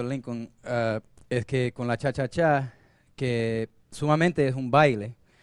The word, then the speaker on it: cha-cha-cha: the cha-cha groove actually the correct pronunciation is cha-cha-cha with three that's right it's most